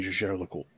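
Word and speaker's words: Jaeger-LeCoultre: So in French, you would pronounce this because you don't pronounce ER as like eh, right? So it's Gégé Le Coultre. But they pronounce it Gégé Le Coultre. Whenever you like hear them speak it, like call the name, it's like eh. It's a little strange.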